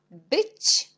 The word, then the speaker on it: być: Après, on a być. On a C avec l'accent, on prononce ti. Et c'est le mot być.